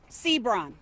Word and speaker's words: Seabron: Yet seconds into that update, he doesn't even know how to pronounce Jaylen Sebrun. His name is Jaylen D'Angelo Sbron.